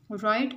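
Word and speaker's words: write: राइट में डब्ल्यू जो है ये हम लिखने में इसको ज़रूर लिखेंगे, लेकिन जब हम इस वर्ड को प्रोनाउंस करेंगे तो फिर डब्ल्यू साइलेंट रहेगा.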